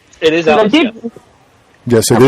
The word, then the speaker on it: ALIS: And am I pronouncing that correctly? It is ALIS.